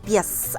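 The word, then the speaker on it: pies: Это пес. Обратите внимание, вот она пришла. Буква И и Пе. Пес. Пес.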